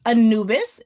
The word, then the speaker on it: Anubis: And today in my hot seat is the artist Anubis. Did I pronounce that right? Yes, ma'am.